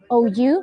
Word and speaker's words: Pandrosou: Yes, it's Pandrosu, Pandrosou.